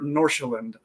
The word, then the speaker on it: Nordsjælland: And then we're going to close it out with the Danish Super League, Copenhagen money line minus 130 over Nordsjælland. And we both pronounced that right because I looked it up on YouTube ahead of time.